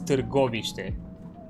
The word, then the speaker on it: Târgoviște: It's called, but the proper Romanian pronunciation is Târgoviște. That's how you pronounce it, Târgoviște. It's a bit more. It's a lot closer.